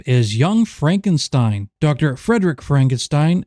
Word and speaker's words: Frankenstein: Frederick Frankenstein, My name, it's pronounced Frankenstein.